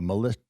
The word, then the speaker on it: Militia: It's like Melissa, but militia.